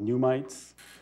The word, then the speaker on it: NUMTs: And this has to be differentiated from a phenomena called NUMTs, or some people pronounce it pneumites.